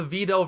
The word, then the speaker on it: Videl: A lot of people have Videl signs, and hey, at least these guys understand there's a long E sound in her name.